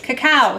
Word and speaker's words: cacao: it correctly, but it's cacao or keko. I don't know how to say it. It's cacao. C-A-C-A-O.